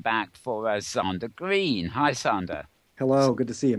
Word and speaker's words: Zander: Hi, Zander. Hello, good to see you, Mel. Great to have you here. Zander, I should say. I just mispronounced it as Sander, if anybody's keeping an ear open.